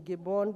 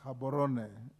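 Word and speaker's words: Gaborone: development Community sadak headquarters in gibon Botswana it is pronounced habon bwana next chairperson public Investments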